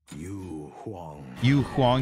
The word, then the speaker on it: Yu Huang: a new god released you huang i think is how you say his name hold on i'll wait you hwang yeah that's how you